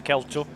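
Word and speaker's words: Kel-To: Or Kelto, depending on how you pronounce it, but it's Kelto.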